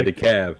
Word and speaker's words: DeKalb: yeah, the cab. Yeah. DeKalb is DEKALB, Mm-hmm. but the L is silent. Yeah. But in Illinois, it's not silent.